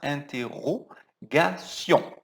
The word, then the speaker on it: interrogation: D'interro, o R é um pouco forçado, tá? Interrogation. Interrogation.